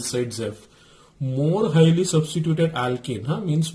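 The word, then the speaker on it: Zaitsev: It is pronounced as Saidzev.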